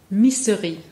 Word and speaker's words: Missery: So and for people at home, it's spelt like misery with an extra S. That's right. Missery. Yeah. And we call it misery in English, but obviously it means the opposite of it.